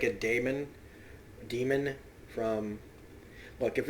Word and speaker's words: daemon: almost like a daemon demon from look if it's people who in His Dark Materials reviews were telling me that it's pronounced demon even though it's spelled daemon fine this is de